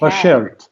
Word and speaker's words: Bashert: Bashert.